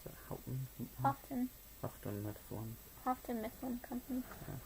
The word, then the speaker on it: Houghton: 1978 was when this one was published by Houghton Mifflin, or how do you pronounce it? Houghton.